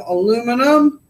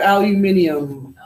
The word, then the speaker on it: aluminium: So that tells me I am aluminum and I am aluminum. All right, if we were in England, we'd call that aluminium. They have a few more syllables.